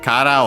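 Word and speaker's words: カラー: But yeah, Kara on its own, accent on the Ka on the first mora, like color in English. Let me see if I can straight up find it.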